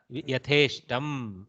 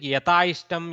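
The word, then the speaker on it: यथेष्टम्: Because if you pronounce it, sometimes it sounds like Yataishtam, Yataishtam, I sound comes, so Yataishtam can be there. But no, it is not. It is not that way.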